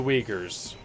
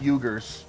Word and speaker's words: Uyghurs: asian um the uyghurs the jugers or the weakers oh that's how it's pronounced yeah okay i thought it's pronounced juggers no it's it's pronounced you're